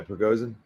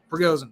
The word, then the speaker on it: Prigozhin: Yeah, Prigozhin. Prigozhin.